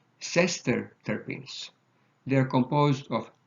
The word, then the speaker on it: sesterterpenes: Next one, make sure that you are careful about pronunciation, are called sesterterpenes.